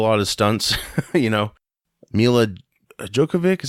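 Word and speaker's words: Milla Jovovich: can't do a lot of stunts you know me lad Joe Kovac is how you say her name from the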